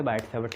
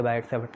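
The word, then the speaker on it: Biot–Savart: नाम तो कुछ अलग है, पर इंग्लिश में आप उसे बायट-सैवर्ट लॉ बोल सकते हो। उसमें कुछ चीज़ें साइलेंट होती हैं, बायट-सैवर्ट लॉ, ये जो वर्ड है इसमें कुछ चीज़ें साइलेंट होती हैं।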